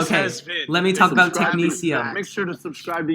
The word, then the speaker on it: technetium: We've got technetium. Ooh, technetium is an element. It's the... That's how you pronounce it?